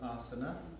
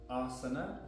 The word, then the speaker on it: asana: Uttan Asana. Uttan, ut means intense, tan is to stretch or expand, and asana, the stress is on the A, the first A.